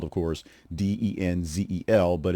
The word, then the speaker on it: Denzel: It is spelled, of course, Denzel, but it's pronounced with a U sound instead of the E sound.